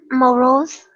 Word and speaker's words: morose: when you pronounce it, there should be no vibration in your throat. It is what we call voiceless, morose.